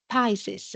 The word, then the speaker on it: PICES: of the sea and pises I would say that is the pronunciation is a North Pacific